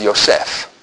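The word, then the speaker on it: יוסף: Or as it's pronounced in Hebrew, Yaakov. There is no J in Hebrew. Yaakov. Joseph is Yosef.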